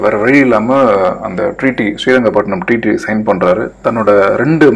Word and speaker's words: ஸ்ரீரங்கப்பட்டினம்: அந்த சிறீரங்கப்பட்டினம் வந்து ஒன்றும் இல்லை, நம்ம ஸ்ரீரங்கப்பட்டினத்தை தான் வந்து ஆங்கிலேயர்கள் இவ்வளோ மோசமாக ப்ரொனவுன்ஸ் பண்ணி சிறீரங்கப்பட்டினமாக்குனாங்க, நம்ம ஸ்ரீரங்கப்பட்டினமே சொல்லுவோம். So treaty of ஸ்ரீரங்கப்பட்டினம்.